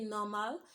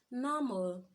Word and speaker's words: normal: an O R mal we usually pronounce that as normal okay if you look at that word the last three alphabet is and which is a consonant followed by R which is a rule then the consonant so such word it has an invisible o sound so we shouldn't say normal we should say what's normal alright so it's as